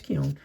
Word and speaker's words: Keown: and uh Dale Keown That's pronounced uh Keown. Yeah, it's Keown.